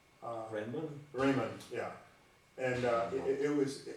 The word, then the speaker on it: Riemann: I ran across a classical paper written by Raymondrahman. Is that one of the more recent people in geometry who I think Einstein used some of his ideas? Is it Raymondrahman? I'm not pronouncing his name correctly. Riemann.